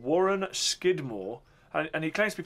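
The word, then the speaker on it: Scudamore: sort of American adaption now Skidmore was the original pronunciation and over the years I suppose they call people there um the way they form their letters changed and so Skidmore became scooter more but originally when they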